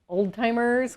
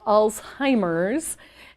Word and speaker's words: Alzheimer's: and many people you know associate it with old timers which to me is kind of a derogatory term but it's just very miss often mispronounced and or misperceived but it is alzheimer's and um it was named after i believe